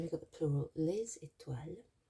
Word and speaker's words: étoiles: And then we've got the plural, les étoiles. Liaison between the S in les and the initial E. We've got an accent aigu, which makes it an E sound at the beginning of étoile.